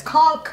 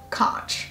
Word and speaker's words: conch: and swear that it's conk even though it's literally spelled the same way as the shell which is pronounced conch something to know about